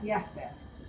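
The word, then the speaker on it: Jaspers: bibliografía de Karl Jasper, o Jasper se escribe, se pronuncia Jasper.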